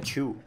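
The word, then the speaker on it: Qiu: The Q for Chinese name is pronounced like a chew.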